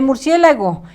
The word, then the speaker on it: murciélago: El murciélago es negro, acento en la E, murciélago.